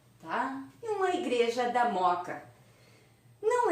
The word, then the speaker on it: Mooca: mooca tá moto a pessoal se escreve assim tá bom e fala moka tá uma igreja da mooca não é possível saber